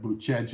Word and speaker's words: Bucegi: spelled Bucegi, but Bucegi is how they would say it in Romania, and Bucegi, and where